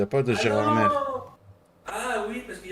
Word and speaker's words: Gérard: y a pas de Gérard ah oui parce qu'il y a pas de parce que on prononce pas le r dans Gérard ber ah non Gérard alors pourquoi dans 20